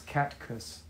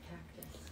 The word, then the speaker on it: catcus: It's catcus. Spell it differently. C-A-T-C-U-S. It's also Emily the Fae, so I'll remember we can actually communicate through both accounts. It's not cactus. Huh. No, it's catcus.